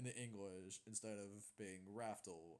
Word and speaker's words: Raftel: Raftel as, legit Raftel, they didn't pronounce it like, oh, you want to know how to get to Laugh Tale? I could tell you. It's like, no, it's Raftel, with an R.